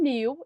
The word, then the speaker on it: knew: Lembrando que know é K-N-O-W. O K é mudo, a gente não lê. E a mesma coisa do knew, a gente não lê. É K-N-E-U.